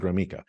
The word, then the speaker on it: Gromicko: you how do you there's no e in it and but I pronounce it gromo so that could be